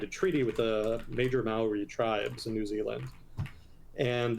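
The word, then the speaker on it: Māori: New Zealand was like, that's not how it's pronounced. So apparently it is Maori, much to my chagrin. So in the 19th century, early 19th century, the British signed a treaty with the major Maori tribes in New Zealand.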